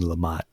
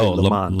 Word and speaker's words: Lamotte: Lots of folks say Lamont. Lamont. Oh, yeah, I always get tricked up with, is there an E or not? Yeah, there's an E, right? It's Lamotte. It's French, and we love silent letters, us French folk, So, yeah.